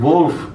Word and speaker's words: Wolf: bless you or uh notice I said wolf that W is not pronounced W wolf is pronoun W